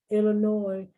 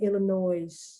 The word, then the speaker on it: Illinois: it's not pronounced example illinois americans say illinois but it's really illinois the s is not pronounced it's not pronounced but